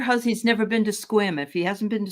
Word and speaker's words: Sequim: e quu i m it looks like Sequim but it's actually pronounced squim okay I'm gonna take